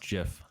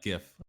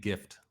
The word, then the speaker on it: GIF: here's a good one it's pronounced jiff no it's incorrect no bad that that is peanut butter here's my problem with here's my problem with uh gif when people say it